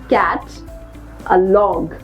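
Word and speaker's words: catalogue: ई है साथ में सो वी आर not going to pronounce it एज कैटलॉग व we will keep letter you silent and नाउ वी are going to pronounce cat अ log alright कैटलॉग the third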